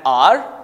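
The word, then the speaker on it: hour: Start हो रहा है, लेकिन जो प्रोनंसिएशन है वो उसमें तो एच साइलेंट है ना, इसलिए हम लोग बोल रहे हैं एन आर।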